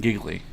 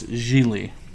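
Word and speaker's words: Gigli: apparently I was saying giggly oh who are you were because it's about GI GLI and that's giggly but it's G Lee yeah Geely just G Lee so the other G is silent G Lee then you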